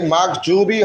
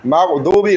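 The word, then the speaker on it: المغضوب: reading কোরআন দ তাই মাগজুবি হবে না মাগদুবি রাইট মাদুবি রাইট আলাইহিম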